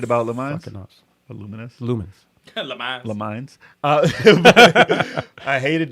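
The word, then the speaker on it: Lumines: All right, Luminous, dope ass puzzle game, super addictive. Le Mines. Nah, this Luminous. Oh man, Lumens, I said it wrong for years. Luminous.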